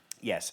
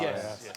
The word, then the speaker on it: Ye: It's pronounced "yay", is it?